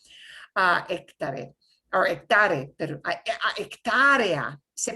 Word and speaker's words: hectárea: Hectare, or hectare, pero hectárea, se pronuncia hectárea.